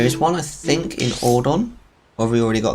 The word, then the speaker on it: Ordon: I think it's supposed to be pronounced Ordon, to be honest. That's how the Japanese would pronounce it, I think.